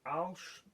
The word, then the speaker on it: Arches: used to make it, Alsh, which is spelt Arches, is cotton, Winsor & Newton Artist's Watercolour paper, I think is wood.